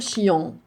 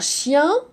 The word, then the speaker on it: chien: Ah, ici, E-N change de vêtement et ça se prononce différemment. On peut lire chi, un. On va pas dire chi, en. Non, on va pas dire chion.